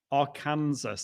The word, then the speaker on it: Arkansas: um saying hello from am i pronouncing that am i saying that right our arkansas yes that's right watching on a macbook